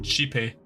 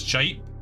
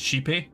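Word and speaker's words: Xipe: god of Harmony being chepy it's spelled x i p you would think it's shap it's like I've heard people call it sheepy like G like XI then PE then sheepy like two things back to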